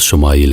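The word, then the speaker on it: ישמעאל: خوشخبری سنا دی گئی۔ عبرانی زبان میں اسماعیل کا تلفظ شمائیل ہے۔ شما کے معنی ہے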